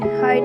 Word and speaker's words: height: FRIGHT फ्राइट में आई के बाद में GHT है तो आई का उच्चारण आई से किया जाता है। HEIGHT हाइट में आई के बाद में GHT है तो आई का उच्चारण आई से किया जाता है।